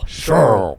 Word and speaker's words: Sherrill: That's spelled SHERRILL, not SHURL. Sherrill. Sherrill. Mike Sherrill. It's Sherrill. Spell it like it sounds.